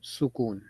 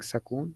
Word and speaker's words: sukun: the correct pronunciation yeah so I think sukun with a d on it I have a habit of saying sakon so not not only